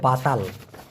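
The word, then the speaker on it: batal: বলা হয় বান্তাল তবে আরেকটা শব্দ আছে সেটা হলো বাতাল বি এ টি এল উচ্চারণটা হবে বা তাল এই বাতাল মানে হচ্ছে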